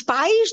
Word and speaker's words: pais: It's different from país. When there is an accent on the I, the word is país. País is country.